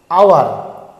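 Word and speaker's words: hour: উচ্চারণ এখানে থাকছে হ, এখানে কিন্তু এইচের উচ্চারণ সাইলেন্ট হয়ে যাচ্ছে, এটা কিন্তু হাওয়ার নয়, এটা আওয়ার, তাই এখানে কিন্তু অ্যান বসছে।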